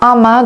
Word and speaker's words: amas: Un amas de quelque chose. On ne prononce pas la S, c'est interdit. Un amas de quelque chose.